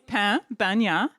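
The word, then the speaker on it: pan bagnat: We learned how to pronounce it over the course of the week, and it's pain bagna.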